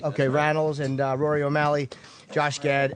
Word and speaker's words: Rannells: And in the studio, it's Andrew Rannells, is how you say it? That's right. Okay, Rannells and Rory O'Malley, Josh Gad, and Nikki M.